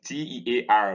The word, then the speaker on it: tear: when you cry but when t-e-a-r means to cut it's pronounced tear using the next diphthong